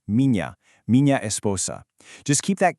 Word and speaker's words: minha: This one sounds exactly like the nya in the English word canyon. So when you're talking about your wife, mña esposa, you don't say minha, not at all.